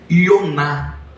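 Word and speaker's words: יונה: do nome de Jonas esse nome Jonas não hebraico a pronúncia é ionar sabe qual é o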